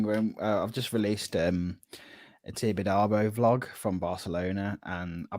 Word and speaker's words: Tibidabo: switched the camera on and I went Thibodeau. Red light syndrome. Oh mate, it's so bad. Like I was listening to pronunciation. I was like, yeah, right, Tibidabo.